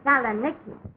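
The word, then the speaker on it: Salonika: Kagy, but the correct pronunciation of that is Salaniki.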